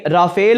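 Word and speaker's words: Rafale: एक पैगाम था कि राफेल हो या राफाल हो, क्योंकि ये जो राफेल का वर्ड है ये दो तरीक़ों से प्रोनाउंस होता है। कुछ लोग इसको राफेल भी बोलते हैं और कुछ लोग इसको राफाल भी बोलते हैं।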